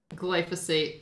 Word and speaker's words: glyphosate: glyphosate and in the insects animals and birds glyphosate yeah thank you yeah this is a challenging